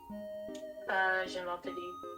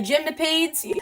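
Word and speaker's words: Gymnopédie: we all think of, like, how do you pronounce it? Gymnopede? Gymnopede. Ah, thank you. My American ass is just like, the Gymnopades.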